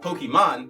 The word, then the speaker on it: Pokimane: Pokimane, actually pronounced Pokimane, best known for her League of Legends streams and her huge, personality, has made the news this week for something truly amazing.